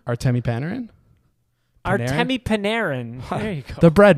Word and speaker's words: Artemi Panarin: How did you just pronounce his name? Artemi Panarin? Artemi Panarin.